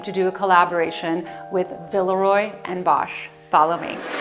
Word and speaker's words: Villeroy & Boch: a lifelong dream to do a collaboration with villarroy and bosh follow me so villarroy and bach or otherwise pronounced villarreal bosch but in germany the real pronunciation is villarroyanbach has been around since the 1700s now this